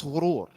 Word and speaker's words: ghurur: That's ghurur. If you spell it G-H-A, gharur, that's shaitan.